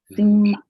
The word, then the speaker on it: sim: Okay, so even though it looks like an M, say it like an N, Yes.